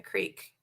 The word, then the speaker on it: creek: no, I only wear the waders if I'm fishing in a creek. Okay. Isn't it pronounced a crick? If you're a backwards ass redneck, sure.